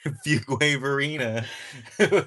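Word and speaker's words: Fuquay-Varina: Fugina, bro. We got to we got to say that got to say it correctly. Fugwaver Arena or are you in care?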